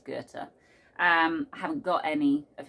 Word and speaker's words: Goethe: I always used to say Goethe, and I imagine a lot of British people say Goethe, but I'm pretty sure it's Goethe.